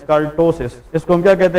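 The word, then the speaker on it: ptosis: इ known as टसिस लेकिन toast का जो स्पेलिंग है ट पीटी ओ एस आई एस इसमें साइलेंट है ट कॉल्ड टोस प इस में साइलेंट होता है लेकिन लिखा जाता है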